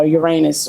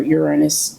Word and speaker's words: Uranus: Pluto Neptune and uh Uranus or Uranus you know how you pronounce it tomato uh those are